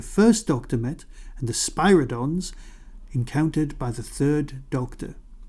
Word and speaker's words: Spyridon: What unusual physical property is shared by the Varjans, whom the first Doctor met, and the Spyridons encountered by the third Doctor? That's the Spyridons, pronounced Spyridon.